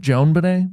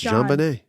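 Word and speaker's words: JonBenét: Is it Joan Benet? What is it? No, it's Jean Benet.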